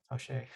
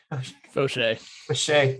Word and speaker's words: Faucher: We have William Faucher, pronounce it right for me. Faucher. Faucher, nice.